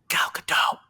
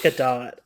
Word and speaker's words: Gadot: Galcadot. It's Gadot.